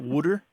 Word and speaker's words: water: Wooder? It's wooder, as like wood, W-O-O-D, and then E-R.